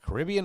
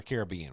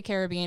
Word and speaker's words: Caribbean: Caribbean or Caribbean? Which Caribbean. one? Caribbean. You only say Caribbean if you're talking about the pirate movies.